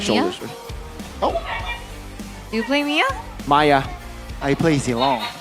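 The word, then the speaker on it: Miya: oh do you play Mia Maya I play zong so apparently we pronounce Mia Maya now yeah it's Maya apparently Maya and zong is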